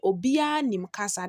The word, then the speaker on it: Obiara Nimkasa: So the first one says, you write it as Obiara Nimkasa. But when you are mentioning it or when you're pronouncing it, you will say Obia Nimkasa. That's the one in bracket.